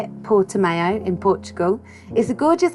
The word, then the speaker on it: Portimão: it and we learnt how to say it portimão in portugal is the gorgeous anchorage rip lefty